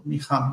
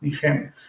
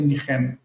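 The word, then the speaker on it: נִחַם: So this is one of those that takes patach in the second syllable, nicham, not nichem. I think in modern Hebrew we would say nichem, like we say shilem. Like it feels natural to me to say lenachem, nichem.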